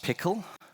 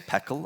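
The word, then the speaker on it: PECL: Well, um, next up we have, um, P E C L. It's pronounced pickle. Um, I will probably say peckle a lot because I'm wrong.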